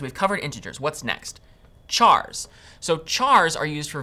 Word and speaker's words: char: Chars. So chars are used for variables that will store single characters. Char is short for character, and sometimes you might hear people pronounce it as car.